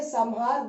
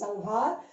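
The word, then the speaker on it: संहार: You say Samhar, but no, it's not Samhar, it's Sanghar.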